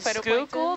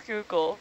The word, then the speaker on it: Schuylkill: see this River it's Google oh yeah written Google is the last way that you would pronounce that yeah um there's also